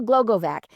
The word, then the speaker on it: Glogovac: So Michelle Glogovac, I love, it actually is sounded out exactly like it is spelled. So Michelle Glogovac is the Podcast Matchmaker,